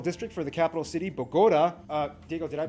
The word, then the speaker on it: Bogotá: The country has 32 departments and 1 capital district for the capital city, Bogota. Diego, did I pronounce that? Bogota. Bogotá.